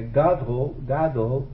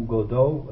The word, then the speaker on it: Godot: Seja como for, a pronúncia desse Godot é Godot, e não Godot, em a francesa.